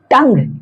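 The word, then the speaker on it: tongue: य पर होगा है ना यहां पर ये साइलेंट होंगे तो ये क्या कहलाएंगे बिस्किट बिस्किट ये क्या है टंग यू के बाद ई है य क्या है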